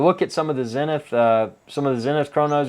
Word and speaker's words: Zenith: at for chronos uh zenith or zanit if you pronounce it with the foreign accent as anit they have